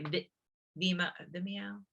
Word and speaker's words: Vimeo: You can also add photos, you can add videos, you can use a template, which I was going to say Vimeo, that's how you say it.